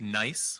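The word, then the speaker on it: NYESS: The way we pronounce that acronym is NICE, which is convenient.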